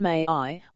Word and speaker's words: MAI: I named the software MI, pronounced May II, which stands for micro artificial intelligence.